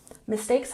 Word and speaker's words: mistakes: Mistakes has emphasis on the second syllable. Mistakes, mistakes.